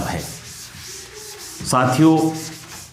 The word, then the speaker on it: हंस: पक्षी का नाम है यहां अनुस्वार से जोर पड़ेगा जब आप बोलेंगे तो इसे कहेंगे हंस जबकि यह हंसना यहां